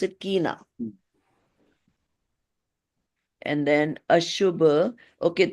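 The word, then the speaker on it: aśubha: And then Ashubha. Okay, so S also has that little tilde or something on the top. So that becomes sh instead of sa. Instead of Asubha, you will say Ashubha Vibhava.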